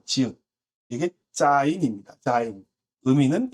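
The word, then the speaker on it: זין: 일곱 번째도 비슷하게 생겼는데 자인이라고 읽고요. 이 자인은 화살표, 무기, 공격 무기를 형상화한 것인데 와우가 바브가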